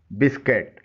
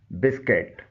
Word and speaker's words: biscuit: BISCUIT बिस्किट, ये है ही English का वर्ड जिसे हमारे यहाँ बिस्कुट बोला जाता है, जो दुरुस्त तलफ़ुज़ नहीं है। इसका दुरुस्त तलफ़ुज़ है बिस्किट।